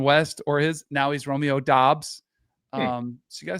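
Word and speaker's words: Romeo Doubs: West football games and referred to him as Romeo dubs and not once did I get corrected from anybody from the Mountain West or his now he's Romeo dos um so you got to stay up with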